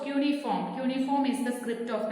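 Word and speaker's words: cuneiform: known as uniforms cryptic remember how to pronounce also cuny form uniform is the script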